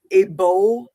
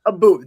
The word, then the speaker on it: Abu: He's a British bodybuilder, Abo. Yes. Yeah. Okay. Abu, I think it is. Yeah, Abu. That's the correct pronunciation.